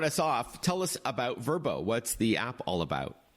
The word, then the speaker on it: Vrbo: especially with apps like verbo spelled VRBO which has been around